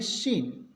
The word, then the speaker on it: scene: एस के बाद यदि सी हो तो सी रहेगा साइलेंट, SCENE, इसको पढ़ेंगे शीन।